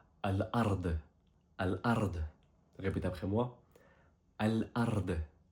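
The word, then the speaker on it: الأرض: Et la terre s'écrit comme ceci en arabe et se prononce Al-Ard.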